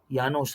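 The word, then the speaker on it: Llanos: ಸ್ನೇಹಿತರೆ ವೆನೆಸುವಲಾದಲ್ಲಿ ಬರುತ್ತೆ ಅದು ಯಾನೋಸ್ ಅಂತ ಹೇಳಿ ಸ್ಪೆಲ್ಲಿಂಗ್ ಡಬಲ್ ಎಲ್ ಬರುತ್ತೆ ಆದರೆ ಸ್ಪಾನಿಷ್ ನಲ್ಲಿ ಉಚ್ಚಾರಣೆ ಮಾಡಬೇಕಾದರೆ ಯಾನೋ ಅಂತ ಹೇಳಿ ಕರೀಬೇಕು ಡಬಲ್ ಎಲ್ ಬಂದ್ರೆ ಯ ಯಾನೋಸ್ ಆಯ್ತಾ ಹಂಗೆ ಸ್ಪಾನಿಷ್ ಪದಗಳಿದೆ ಸ್ನೇಹಿತರೆ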